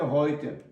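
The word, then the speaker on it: heute: І абайте гойте і ахбайте гойте нігть. Е-е еу читається як ой, хто пропустив, щоб знали завжди.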